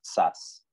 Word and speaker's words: Szász: ese momento que es thomas szász sz a z se escribe tomás en su